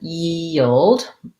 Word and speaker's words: yield: to the yah feeling it's a glide from the e to the uh and then i have to go back to my e which is what makes it tough so yi yi and then yield ye old basically i have a dark l there it has a little